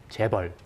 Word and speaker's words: Chaebol: the risk involved in, let's give the proper pronunciation, Chaebol.